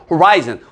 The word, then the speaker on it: horizon: 그다음 perceive 인지하다 그다음 발음 조심하세요 호리지 아니에요 horizon 우리가 지평선 정도로 얘기하는